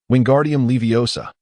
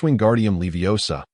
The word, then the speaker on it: Wingardium Leviosa: "You pronounced it wrong," Hermione said bluntly, having just received praise from Professor Flitic. Hermione appeared to be in much higher spirits. "It's Wingardium Leviosa." "And that gar should be drawn out and pronounced clearly."